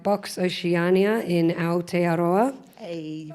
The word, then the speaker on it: Aotearoa: from conferences, club nights like Box Oceania in Aotearoa. Hey, you pronounced it right.